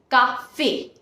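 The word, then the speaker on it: café: the pronunciation of letters so when we put axo egg you on top of E the pronunciation of the letter becomes a a as in the alphabet a for example which is Coffee Cafe you see we have put abso AQ on top of e which makes the pronunciation Cafe the second type of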